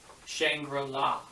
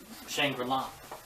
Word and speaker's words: Shangri-La: and all that stuff, when you're saying Shangri-La or Shangri-La, I thought he was mispronouncing and kind of saying it so it would rhyme the words chandelier.